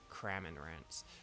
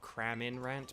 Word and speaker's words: Cramorant: So we're just gonna carry on looking for our Lotads and our Cramorants. And I am deliberately mispronouncing that for someone. It's Cramorant, not Craminrant, but it's because of Cramin in the chat.